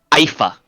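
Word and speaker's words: Aoife: ] that means the the name is a a-o-i-f-e IFA I'll call it that feminine Irish name uh what are the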